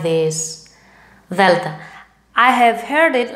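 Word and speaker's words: δέλτα: The and the lowercase, like this, delta. I have heard it like this, delta. No. This is the wrong pronunciation. The right is not d but th. Think the word although in English.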